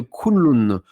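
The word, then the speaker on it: Kunlun: garta se trouve à l'extrémité ouest des montagnes kunloun kunon donc ça s'écrit K u n l u n pour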